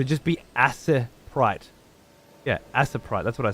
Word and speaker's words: Aseprite: just be aprite yeah aseprite that's what I said what does that mean I always hear it pronounced Ace Sprite Ace Sprite Ace Ace